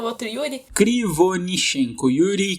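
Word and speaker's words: Кривонищенко: Conseguiu a pronúncia do nome do cara, o outro Yuri? Krivonishenko. Yuri Krivonishenko.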